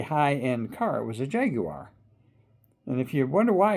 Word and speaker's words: Jaguar: tend to call them jaguars but the proper pronunciation accur is jaguar and that's what they call them in England and it's the way it's spelled and you pronounce it the way it's spelled.